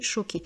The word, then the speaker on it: choquée: Alors au féminin on rajoute un E et ce E est muet. On dit donc être choqué aussi. Pour une fille, elle est choquée.